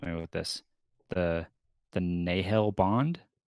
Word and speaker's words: Nahel: have to help me with this the the nahil bond it's pronounced without saying that right so it's like a nahel bond is how they say it yeah it's